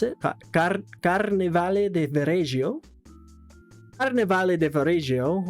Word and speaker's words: Carnevale: The Carnaval de Varese, I think that's how you pronounce it. Carnevale de Varese.